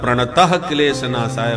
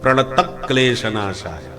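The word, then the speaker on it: प्रणतक्लेशनाशाय: पर प्राय लोग इसके उच्चारण में प्रणत क्लेश नासाय बोलते हैं। प्रणत में विसर्ग नहीं है। संस्कृत के उच्चारण का नियम है कि आगे का अक्षर आधा हो तो प्रथम अक्षर पर जोर दिया जाता है।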